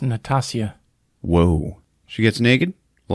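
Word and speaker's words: Nastassja: cat people starring Natasha Kinski it's pronounced Natasia whoa she gets naked a lot I heard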